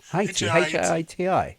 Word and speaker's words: Haiti: Hei Haiti or Hi, how do you pronounce Heii? Hi Ti.